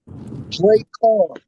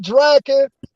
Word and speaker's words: Drakhan: It's pronounced Drake Khan. Oh, Drake. Drake Khan. Like Shere Khan in Jungle Book is the same thing. Drake Khan, not Draken, not Drake Khan, Drake Khan.